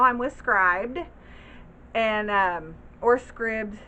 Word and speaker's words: Scribd: scribed and or Scribd some of you guys like to say scribbs but when you're a scriber like a transcriber that's what it looks like to me so that's why I say it like that but tomato tomahto honey